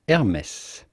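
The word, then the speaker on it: Hermès: the s of hermes is not silent this is a bit of an exception hermes hermes then comes chloe and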